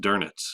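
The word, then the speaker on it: Dönitz: be an uml out over the E it's pronounced dernitz for some reason so Admiral durit was a a Navy guy and he was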